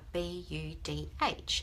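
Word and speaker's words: budh: And I think the language is Indian, I'm not sure, but it turns out that the word awake is actually spelled B-U-D-H, and it's pronounced Bud, like that.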